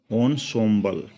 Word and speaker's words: ensemble: ये दिख रहा है बच्चों ensemble, लेकिन ये प्रोनाउंस होगा ensemble.